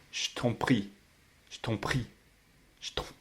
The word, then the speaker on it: je t'en prie: It's what's happening when je t'en prie is pronounced je t'en prie.